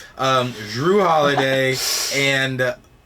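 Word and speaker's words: Jrue: combination with um Drew let me let me pronounce it better Drew holiday because it is a Jay um Drew holiday and B uh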